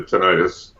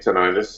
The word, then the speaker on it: tinnitus: I have tinnitus myself, which is very similar to tinnitus, if not identical with it. And there are two ways of pronouncing it, and some people say tinnitus and some people say